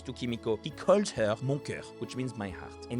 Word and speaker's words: mon cœur: It's supposed to sound like mon cœur, and he says Okay. mon cœur, which actually sounds like my ass in French, mon cul.